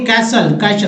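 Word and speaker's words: castle: फिर देखिए कैसल, काशल बोलेंगे, काशल, कासल में जिस टी का उच्चारण नहीं हो रहा, कासल मीन्स होता है महल।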